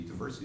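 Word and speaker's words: Diversey: I wish I had included it at diversity diversity is how you pronounce it diversity Harbor diversity it is Chicago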